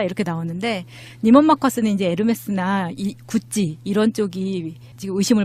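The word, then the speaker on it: Hermès: 마차님, 그거 헤르메스죠? 그랬어요. 그랬더니 나한테 막 욕을 하는 거야. 헤르메스가 어딨어요? 아, 예, 그러니까 나도 처음에 이제 스펠링방 보고 헤르메스죠? 그랬더니 막 와서 밖으로 노출시킨 가방이 에르메스 중에서 켈리 백만 있을 거라고 생각을 했었는데 찾아보니까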